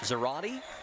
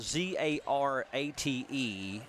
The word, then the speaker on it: Zarate: Well, when you see it is spelled Z-A-R-A-T-E, that is like karate. So I want to say Zarate.